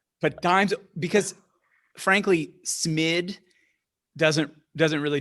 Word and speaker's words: DIMES: Or are you pronouncing it dimes and not dims? I bought a vowel. I bought a vowel. I didn't get paid yet, so I'm not giving you the vowel. I think dimes, I'll have to find